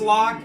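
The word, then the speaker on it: Locke: cting with resistance grou the oh it is pronounced lock okay lcx said lock lcx said treasure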